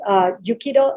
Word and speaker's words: Yujiro: But in Spanish, people say Yujiro. So whichever you prefer. Oh, but I like to say, how do you say Yujiro? Yeah, Yujiro is a Spanish, right? Spanish version, because J is a Jota, so that's why Yujiro.